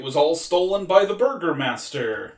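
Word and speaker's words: Bürgermeister: gone because it was all stolen by the burger master burgermeister german pronunciation it was stolen by the cops the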